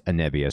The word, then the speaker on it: Anevia: so by the way it's anivia so I've been saying her name wrong the entire time and